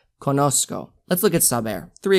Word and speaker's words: conozco: that's z er in in latin america you're gonna pronounce that like an s not like a z z like in english like a s conosco let's look at subair